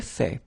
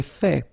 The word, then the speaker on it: fait: J'ai fait. So remember, final T is not pronounced.